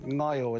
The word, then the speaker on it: Ngaio: It'd be nice to be driving through Ngaio instead of Gayo, for instance, right?